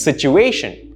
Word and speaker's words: situation: Situation is not situation, no, it's situation. Notice the stress on A, situation.